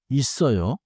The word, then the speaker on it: 있어요: The 쌍시옷 links forward. So it is 있어요.